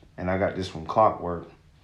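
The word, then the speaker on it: Clockwerk: So what a trick I like to do, and I got this from Clockwork. It's spelled like clock, CLOCK work, but it's WREK.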